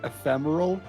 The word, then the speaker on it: Ephemeral: Also, my name is pronounced ephemeral. It's also a word, like an English word.